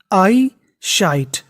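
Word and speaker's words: eyesight: आई साइट अब देखिए इस मीनिंग के आखिरी में लिखा था जी एच टी अगर आपको इंग्लिश में कहीं पर जीएच टी लिखा मिल जाए तो उसे हमें पढ़ना होता है ट क्या पढ़ना होता है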